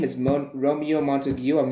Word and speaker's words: Montague: me one second okay so it's not montague it's montague okay so the montague um